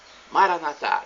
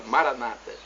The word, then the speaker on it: Maranata: agora eu clamo Maranata como dizemos nós católicos com a tônica na última sílaba palavra em português com a tônica na última sílaba oriunda do aramaico de alerta de Jesus Maranata dizemos nosso católicos os evangélicos ou protestantes colocam a tônica na penúltima sílaba Maranata não importa somos